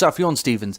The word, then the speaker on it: Sufjan Stevens: hello Themba galius apparently it's pronounced Sufjan Stevens and this is World War two by the